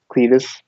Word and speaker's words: Cletus: How you pronounce his That name? Cletus, What?